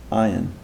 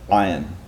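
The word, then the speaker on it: עין: It doesn't sound like ayin. That's an unpronounced ayin. I'm saying ayin. Do you hear a difference?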